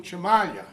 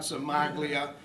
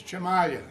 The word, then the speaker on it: Cimaglia: Seriously, I've known Chimalia, and that's the way you pronounce it, folks. It's not Somaglia and Somoleia and every other way I've heard it pronounced since I've been coming to these meetings.